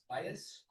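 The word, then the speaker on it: Vyas: Bias Arty and Bias Renee, how do you pronounce that? Bias It's V Y A S.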